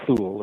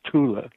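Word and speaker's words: Thule: was known as the Tula gesellschaft it's usually mispronounced a full society right fool it's not fool in German as Tula but the Tula ghazal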